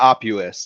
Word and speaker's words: Oppuous: is the founder of how do you say office yeah Opus yeah obvious okay you just think octopus I mean everything has